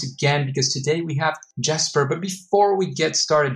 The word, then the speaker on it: Jesper: It's Jesper, but I also respond to Jesper.